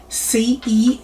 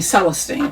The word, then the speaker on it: Celestine: Celestine. Accent on the second syllable. Celestine. Accent on the second syllable. Well, I still have friends that I have not corrected who call me Celestine.